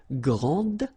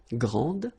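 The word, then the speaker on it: grande: And regarding the feminine form, you will pronounce it grand. Okay? Okay, don't insist on the final but then pronounce this D grand and then exactly the same pronunciation grand.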